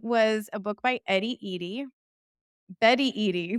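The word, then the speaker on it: Eadie: And it was a book by Betty Eady. There you go. It rhymes.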